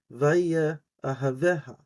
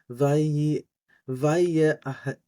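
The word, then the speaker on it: וַיֶּאֱהָבֶהָ: Vaya ahaveha. Now, a lot of people won't pronounce that aleph. I do. So, vaya ahaveha.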